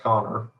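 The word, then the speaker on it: Kanner: It does look like Canner, but it's pronounced Connor.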